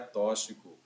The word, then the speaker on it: tóxico: Não se pronuncia tóxico. Se pronuncia tóxico. Se pronuncia tóxico. É como se fosse no lugar do X, duas letras. K, S. É no lugar do X, como se fosse KS.